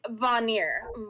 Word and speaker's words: Vanir: and and gustav helped me and um it's pronounced like vanir va nir so it's not it's not ice